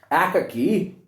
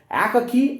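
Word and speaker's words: Akaky: Akaki, A-K-A-K-Y, Akakivich, Aka, A-K-A, Kivich, K-I-E-V-I-C-H. Sometimes it's also pronounced as Akaki, Akakivik.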